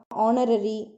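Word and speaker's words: honorary: ஆனரரி, அதுக்கப்புறம் year. So இந்த மாதிரி வேர்ட்ஸ்லாம் நீங்கள் வந்து பார்த்தீங்கன்னா ஹெச் வந்து சைலண்ட்டாக இருக்கும்.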